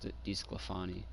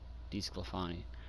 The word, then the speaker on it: DeSclafani: Okay, so it's DeSclafani. That's how you say his name. DeSclafani.